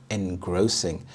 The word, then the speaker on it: engrossing: very thought-provoking engrossing engrossing the stress is on the second syllable engrossing and this means absorbing